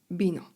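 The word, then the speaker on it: vino: Na początku słowa litera V, czyli U w kasjanu jest wymawiane jak B. Bino, elalkol.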